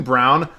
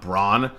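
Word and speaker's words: Braun: forward you know Christian Brown who I actually just found out the pronunciation is brown not Brawn I've been saying it like Brawn for a very long time and nobody's corrected me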